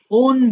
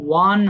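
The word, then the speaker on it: won: যে এটা দেখছো না আমরা অনেক সময় এটাকে ওন বলে ফেলি আসলে ওন হয় না এটা ওয়ান হয় ওয়ান টু থ্র ফোর বলি না এটার উচ্চারণটা হবে ওয়ান হয়ে যাবে।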